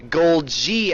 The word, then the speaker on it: Golgi: joined by the saintly golgi apparatus which we just googled and found out that's how you say it even he didn't know and it's his name I mean I don't